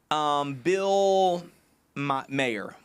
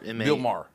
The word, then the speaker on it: Maher: How do you say his name? Bill Meyer. Meyer. What is it? Meyer. The comedian? That does like political show now. Maher. Bill Maher. Bill Maher. Okay, Bill Maher.